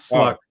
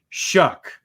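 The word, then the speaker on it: Shough: the quarterback for Louisville shuck sorry not sluck shuck that's how you say it I know it looks weird but it really from when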